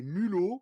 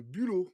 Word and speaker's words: bulot: une erreur de prononciation tu as dit des mulos au lieu de Bulot et en fait il